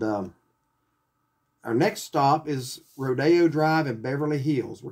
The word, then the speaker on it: Rodeo: mr holland on it not sure why it's pronounced rodeo rather than rodeo since it's spelled like rodeo but i guess rodeo just sounds a little more uppity i don't know it's